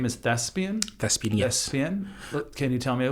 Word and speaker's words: Thespian: Thespian. Can you tell me a little bit about it? Well, so Thespian is pronounced THSPIAN without the E.